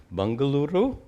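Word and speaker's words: Bengaluru: people how do you pronounce that their new pronounce bangaluru bangaluru bangaluru bangaluru all right uh Aron asks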